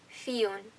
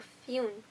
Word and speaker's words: Fionn: It's pronounced Fionn. Yeah. Fionn. Or Fionn. Knew it.